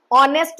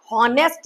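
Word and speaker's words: honest: ठीक है, इसमें एच साइलेंट है, ऑनेस्ट में एच साइलेंट है, हॉनेस्ट नहीं, ऑनेस्ट।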